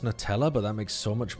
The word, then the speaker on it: Nutella: you you've only heard newella. Newella. Americans call it newella. It's got nuts in it. The whole point is that it's made of nuts and chocolate. Nut. Nutella. It's strictly Nutella.